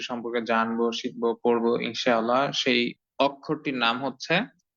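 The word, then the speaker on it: ث: আগে একটু জেনে নেই সাধারণভাবে ছা অক্ষরের উচ্চারণ হবে নরম প্রকৃতির গরম না নরম প্রকৃতির এবং এবং খুব স্নেহের সাথে খুব আদরের সাথে ঠান্ডা বাতাস দিয়ে সাক্ষরটি উচ্চারণ করতে হবে আমি ঠিক আপনাদেরকে যেটা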